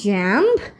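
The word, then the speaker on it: jamb: থাকবে তারপর আছে সিমিলারলি জ্যাম্প জ্যাম্প বলবো জ্যাম জে এই এমবি জ্যাম তারপর আছে আমাদের জন্য ল্যাম্প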